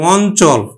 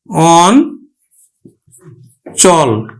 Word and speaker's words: অঞ্চল: কিন্তু দন্তন্য উচ্চারিত হবে তাহলে এটি উচ্চারণ কিন্তু কি হবে অঞ্চল এটি উচ্চারণ হবে অন চল বা অঞ্চল অঞ্চল এইটি দেখো এই